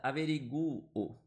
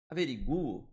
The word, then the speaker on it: averiguo: Averiguo. Averiguo 8 letras e 8 fonemas, porque esse U aqui ele tem um som forte, beleza?